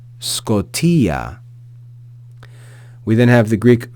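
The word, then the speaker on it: σκοτίᾳ: a circumflex accent te we then have the sigma as I mentioned before the initial Sigma followed by Kappa Omicron Tau Yota with a with an acute accent and an alpha with the Yota subscript so Scotia Scotia we then have the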